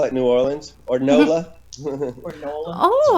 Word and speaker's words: New Orleans: Am I pronouncing that right? New Orleans, New Orleans? Yeah, I mean, New Orleans.